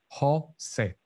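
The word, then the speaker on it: José: And say, but it's actually in Spanish, we just say Jose, Jose.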